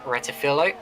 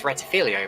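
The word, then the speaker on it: Rettifilo: Turns 1 and 2, also known as the Retifilo, which a lot of people pronounce as Retifilio, but I don't see where the other I is.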